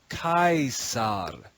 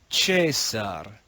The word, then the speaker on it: Caesar: pronunciation, and he says, Kaisar, Kaisar. The man on the right has the same idea and uses the same word, but speaks in a different dialect. He says, Caesar, Caesar.